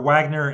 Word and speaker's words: Wagner: And that mercenary group is called Wagner, or Wagner in English, like the composer.